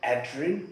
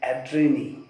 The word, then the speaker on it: Adrienne: name is adreni rich some people call her adrien which is also right but uh according to the right pronunciation it would be adreni because there is double in so enzyme with little uh